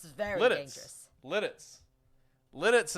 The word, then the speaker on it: Lititz: Lidditz is how you pronounce it. Lidditz. Okay, perfect. Lidditz. Not Lititz.